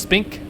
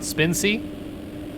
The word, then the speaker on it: Spink: Let me know that it's pronounced Spink, not Spincy.